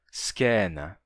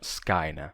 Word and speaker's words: scena: Então, o ditongo ai eu pronuncio já monotongado em e, skena, e não skaina.